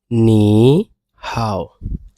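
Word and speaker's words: 你好: করি তাহলে পরে এখানে দেখেন এখানে প্রথমে আছে নি হাও। নি হাউ এইটার উচ্চারণটা দেখেন এখানে আই এর উপরে আই এর উপরে এরকম একটা টোন দেওয়া আছে এই টোনটা আমরা পড়ার সময় কিভাবে পড়বো নি হাও নি হাও ঠিক আছে এইখানের এই এইখানের এইটা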